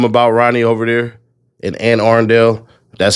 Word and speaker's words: Anne Arundel: I think they don't really give a damn about Ronnie over there in Anne Arundel.